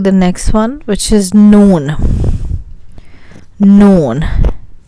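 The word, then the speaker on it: نون: Let's go to the next one, which is noon. Noon. Like this. Noon. Like afternoon or something.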